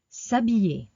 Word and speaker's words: s'habiller: S'habiller. When you pronounce, ignore the apostrophe and the I-double-L makes the sound E, E.